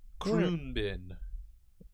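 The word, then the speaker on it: Khruangbin: Kroonbin. And pronunciation.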